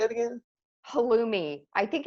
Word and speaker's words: halloumi: halloumi um how do you say it again halloumi i think it's spelled h-a-l-l-o-u-m-i no i like t that sounds